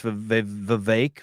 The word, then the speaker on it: Vivek: It is Vivek because I heard him do a rap and he said it rhymes with cake.